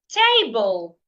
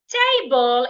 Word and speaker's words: table: a word like table, table is a noun and it has two syllable, t and bull. So because it has two syllables and because it is a noun I need to stress the first syllable which is why the